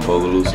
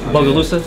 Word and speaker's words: Bogalusa: I grew up in Bogalusa, Louisiana. Bogalusa?